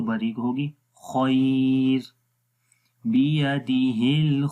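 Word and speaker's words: الخير: बारीक पढ़ेंगे, तो जब रुकेंगे तो बारीक होगी खैर, बियदिहिल खैर। और अगर मिलाकर पढ़ेंगे तो फिर रॉ मोटा होगा, बियदिहिल खैरु व हुवा खैरु, बियदिहिल खैरु।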